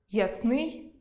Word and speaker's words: ясний: Наприклад, алфАвіт – алфавІт,веснЯний – веснянИй,зАвжди – завждИ,зокрЕма – зокремА мАбуть – мабУть, пОмилка – помИлка, тАкож – такОж, яснИй – Ясний Будьте пильними: інколи зміна наголосу призводить до зміни значення слова.